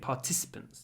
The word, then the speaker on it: participants: easy word I think participants just remember the stress is on the ear but it's not participants